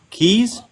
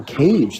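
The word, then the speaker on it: Kayj: Keys? No, Cage. That's my actual name. Seriously? Yes, seriously. It's not His spelled actual K-A-Y-J.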